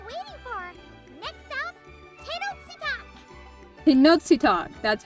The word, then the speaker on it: Tenochtitlan: Tenochtitlan.